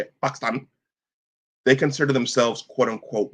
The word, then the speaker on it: Pakistan: Pakistan, they consider themselves quote unquote brown people if you ever meet them and and talk to them.